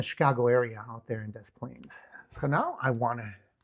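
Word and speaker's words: Des Plaines: Desplains kind of a similar situation, but you pronounce both s's.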